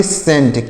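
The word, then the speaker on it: scent: CENT, तो यहाँ पर C जो है साइलेंट है। C क्या है, साइलेंट है। यानी अगर यस के साथ C होता है तो C साइलेंट होता है।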